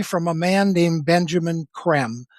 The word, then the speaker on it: Creme: Primarily from a man named Benjamin Creme, spelled c r e m e. It looks like cream, but it's pronounced creme. It's like French, right?